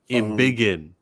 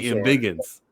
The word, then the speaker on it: Embiggen: the Bigums was more Embiggen. I'm sorry. You keep saying it like if you just said like Anzo just called her Proton. I let that slide, but you keep saying it wrong. She Embiggins.